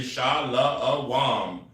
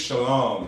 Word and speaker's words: shalom: You see in that word and you say shalawam. It's just shalom.